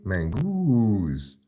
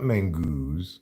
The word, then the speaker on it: mango: oranges oh I like mangoo you mean mangoes you've mispronounced it it's not mangoo it's mango because you know I'm